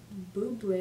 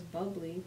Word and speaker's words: Bublé: Some Michael Bublé, apparently pronounced his name. I thought it was Bubbly, but that's fine.